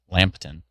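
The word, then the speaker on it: Lambton: Not lamp but lamb. Lampton.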